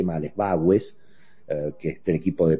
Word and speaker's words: Bagües: Antes de retomar la agenda política, lo saludo a Joaquín Bagues, que es, me parece que lo pronuncié mal, es Bagues, que es del equipo de Portfolio Personal Inversiones.